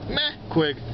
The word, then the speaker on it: meh quig: Meh quig. Or meh quig. But meh quig is the way to really say it.